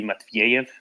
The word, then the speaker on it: Matveyev: See, I'm assuming that he wants it pronounced with the Russian orthography, so it's probably Matveyev. So each E is a ye.